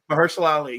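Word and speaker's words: Mahershala Ali: Ali is that how you say his name mersel Ali yes man he's so good too like he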